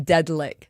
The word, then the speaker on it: Deadlick: And if you didn't figure this out beforehand because it's very difficult, the band is Deadlick. That's how you pronounce it.